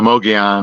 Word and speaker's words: Mogollon: No, Mogollon Rim. Yeah. Cuz the L is kind of silent.